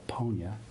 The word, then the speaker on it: Ponya: Swahili, if you pronounce it with a long O, Ponya, it means cure or healing.